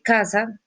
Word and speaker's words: casa: Casa vendría a tener el acento en cuál de las dos sílabas. Chicos, casa en donde lleva el acento. No, usted no dice casa, donde hace su mayor esfuerzo de voz para decir casa. En la, en la C con la A, K, su mayor esfuerzo de voz lo hace en K, ¿cierto?